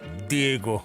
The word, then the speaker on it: Diego: Why'd you have to say it like that? Diego. I'm just pronouncing it correctly.